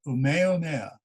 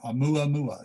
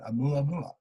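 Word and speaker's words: ʻOumuamua: It was called Umeomea, or Oumuamua, sorry, I mispronounced that, Oumuamua, yes.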